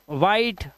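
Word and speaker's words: white: इसे पढ़ो वाइट, वाइट।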